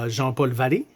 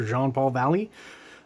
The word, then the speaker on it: Jean-Paul Valley: One, always kind of bugged me that Azrael, when he's his alter ego, just regular old Jean-Paul Valley, as he's called, or Jean-Paul Valley, if you want to pronounce that in English, kind of a skinny dude with skinny arms and skinny legs.